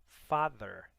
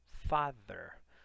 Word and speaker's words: father: Lembra que a língua entre os dentes, quando você precisa pronunciar o TH, né, em língua inglesa, é um som que nós não temos na língua portuguesa, então não é só father com som de D, não. Father, there, tá?